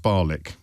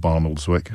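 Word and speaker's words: Barnoldswick: I It's pronounced Barlick. I of course it is not Barnoldwick.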